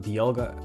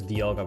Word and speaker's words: Dialga: This is pronounced Dialga. I used to pronounce this Dialga, but I think that's because I'm Dutch, but I think it's like dial, right? Dialga because of a dial.